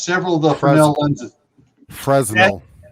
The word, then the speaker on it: Fresnel: Fresnel. The S is silent.